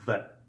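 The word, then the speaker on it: В: going to learn is the letter vet and vet when typed and printed looks like this as you can see it looks similar to the English bee however it makes the buh sound so written in cursive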